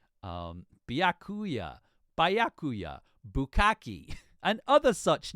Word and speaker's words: Byakuya: I could not for the life of me pronounce Byakuya's name. Byakuya, Byakuya, Bukaki, and other such names.